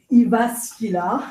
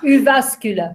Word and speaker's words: Jyväskylä: So I'm going to ask everybody in the room here to teach you how to say Jyväskylä. Jyväskylä. No, we don't have enough time. Jyväskylä. Brilliant. I think we all pronounce it differently.